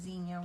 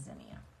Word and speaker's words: zinnia: And there was a big discussion about whether it was zinnia or xenia. I think my mom always said xenia when I was little, but apparently the Google lady, when she pronounced it for me, was zinnia. So in case you were wondering, it is zinnia.